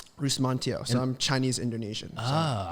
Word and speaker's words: Rusmantijo: it it's all good how do you pronounce it bruce montio so i'm chinese indonesian